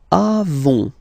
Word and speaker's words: avons: Then, nous avons, final S not pronounced, avons, okay?